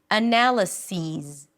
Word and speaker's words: analysis: Analysis. Analysis. Analyses. And if you're not sure how to remember these two words, then remember the difference between this and these because analysis rhymes with this. This analysis this analysis and analyses rhymes with these these analyses.